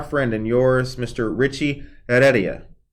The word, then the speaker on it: Heredia: Richie Heredia, right? Yep. Yeah, that's right, because the H is silent.